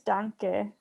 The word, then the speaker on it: danke: No, in German it's danke.